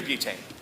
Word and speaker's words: Butane: that i can do devon james i'm butane uh that's butane here let me spell that for you debon devin divon okay uh